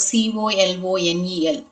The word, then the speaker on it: colonel: And also you have the word c o l o n e l, you have the letter l o, but it has to be pronounced as colonel.